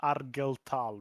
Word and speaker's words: Argel Tal: Then you meet Dante or Bjorn or Argel Tall or K or Lucius. Arlel Tal. It's called Argel Tal.